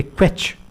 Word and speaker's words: kvetch: वो है आपके स्क्रीन्स पे क्वेच, KVETCH, क्वेच। टी यहाँ साइलेंट है, क्वेच।